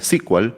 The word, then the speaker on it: SQL: pasar a llamarse sql y por eso es que hasta ahora se pronuncia squal y no sql Aunque sql también es correcto Oracle fue la primera